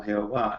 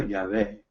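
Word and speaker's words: Yahweh: en español como jehová es como una palabra inventada porque hemos perdido la pronunciación correcta del grandioso pero lo más correcto lo más cerca que podemos calcular es cuando encontramos el bajen en la biblia y realmente está diciendo ya ve el grandioso y vamos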